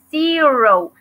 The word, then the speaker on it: zero: Acuérdense, se pronuncia zero. Y tenemos, cuando veamos una Z en inglés, tenemos que hacer como un sonido de abeja, así como zero, ¿ok? Así como abejita.